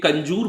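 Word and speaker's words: Kanjur: इसे कंजूर पढ़ा जाता है, कई बार कंजूर की स्पेलिंग में लोग OR भी लिखते हैं, उससे कोई फर्क नहीं पड़ता है।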